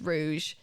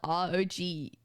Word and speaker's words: rouge: It's rouge. Spelled R-O-U-G-E.